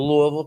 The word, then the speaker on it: Louisville: And that is if you ever get to Louisville, Kentucky, got to say it right. If you're not from there, they'll know. If you don't call it Louisville instead of Louisville, but call it Louisville.